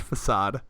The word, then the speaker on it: facade: just a flick aid right because uh it's pronounced facade thank you just just never know I'm just